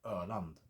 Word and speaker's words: Öland: Åland and Öland. So there you go. That might help you pronounce those names as well.